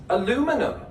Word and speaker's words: aluminum: I pronounce this aluminum because it's spelled aluminum. But if it was spelled the British way, aluminium, I would pronounce it thus.